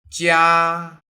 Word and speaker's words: 家: 家 Please watch my accurate pronunciation.